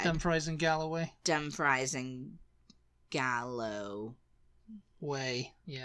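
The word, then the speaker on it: Dumfries: I might have said Dum fries and Galloway Dum fries and Gallow way yeah W aw oh that's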